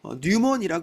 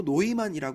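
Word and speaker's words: Neumann: 서부 일대라고 보시면 돼요 언어는 당시에 주로 독일어를 썼어요 그래서 이름도 뉴먼이 안 하고 노이만이 발음을 합니다 당시 시골에서는 살이면 일을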